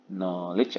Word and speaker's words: knowledge: kata pengetahuan jadi knowledge Bacanya jangan ada k-nya ya n langsung knowledge atau knowledge Oke grow